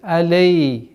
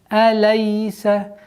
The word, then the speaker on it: أَلَيْسَ: После звука лям, если идет я с сукуном, распространена ошибка, что она уходит в алей, лей. Нужно максимально четко, не торопясь, произносить фатха полноценным образом. Алейса, алейса, алейсал.